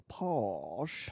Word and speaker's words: Porsche: Have we ever talked Anyway, Tom Holland is, the way he says Porsche is posh.